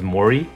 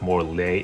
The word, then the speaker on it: Morley: think in another video I thought his name was Mori cuz in Japanese it's Mo then D but it's more le le le in English home Blaze nothing right